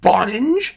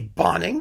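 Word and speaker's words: Bonynge: mispronounce something whether it's richard bonange which is really bonning because he didn't have the sense to take the e off of the end of his name or whether it's cagitarian's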